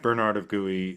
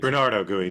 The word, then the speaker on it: Bernardo Gui: That's how we say his name, right? Bernard of Gui. I thought it was Bernardo Gui, but I don't know, whatever it is. Bernardo Gui, thank you.